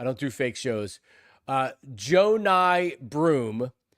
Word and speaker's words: Johni Broome: uh Joe Ny Broom. And I still write it phonetically because I before they drafted them last night, I would have I would have said Johnny Broom, you know, like a